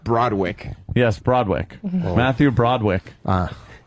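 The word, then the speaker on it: Broderick: Matthew Bodwick. Pronounced Broadwick.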